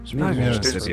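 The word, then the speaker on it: Meracydia: I can't be arsed to check me map right now, but I believe it's Mericidia. Mericidia. They're talking about... Mericidia is how I pronounce it, but, you know, names or whatever you say they are, really.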